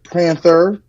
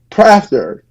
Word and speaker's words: Prather: Prather, Long A. long A, Prath. That's long A. How you say it? Prather.